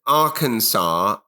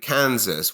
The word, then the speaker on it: Arkansas: Also, why is Arkansas and Kansas? Why are they not pronounced the same when one is Arkansas and the other is Kansas?